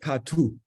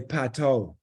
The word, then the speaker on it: Pato: But in Jamaica, it's pronounced Patu. Patu. Oh, cool. Yeah. But in England, they say Pato.